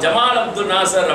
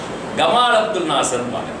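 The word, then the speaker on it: جمال عبد الناصر: அவங்கள்ட்ட என்ன அப்படின்னு சொல்லிச்சோம்னா சா உச்சரிப்பு கிடையாது, உங்களுக்கு எல்லாம் தெரியும் சா ஜமால் அப்துல் நாசர் அப்படின்னு சொல்லி சொல்ல மாட்டாங்க, எப்படி சொல்லுவாங்க, கமால் அப்துல் நாசர் ஜாவை வந்து சாவை வந்து கான் உச்சரிப்பாங்க.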